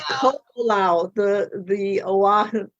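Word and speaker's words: Koʻolau: your book name i've heard it always it's ko lao the the oahu it's on oahu and they call um the pronunciation would be ko olao okay called secret right so it's based in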